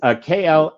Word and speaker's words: Klaviyo: A couple of my clients have that tool, and of course I can't pronounce it right. But it's Klaviyo, and it automated the email campaigns.